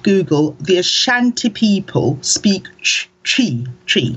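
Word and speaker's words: Twi: You say chi, like C-H-I, or chi? So it's T-W-I, right? And it's a very you have to purse your lips and go chi.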